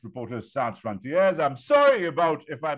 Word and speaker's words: Reporters Sans Frontières: He is the head of the Indo-Pacific desk for RSF, Reporters Without Borders, properly pronounced Reporters Sans Frontières.